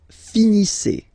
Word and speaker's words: finissez: Vous finissez. Vous finissez. Okay, a Z at the end gives you the sound E.